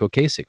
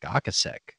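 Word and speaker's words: Ocasek: like recording with rick o'kasick from the cars and he's like actually his name is pronounced rick akasek wow so there you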